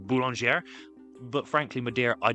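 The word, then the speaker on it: Boulanger: I believe it's supposed to be pronounced Bulonger.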